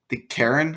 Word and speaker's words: Charon: It's the Karen, I think that's how you say it, award, spelled Charon.